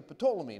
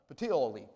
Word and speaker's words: Puteoli: And after one day, the south wind blew and came the next day to Ptolemy. Now, I mispronounce that all the time. Puteoli, all right?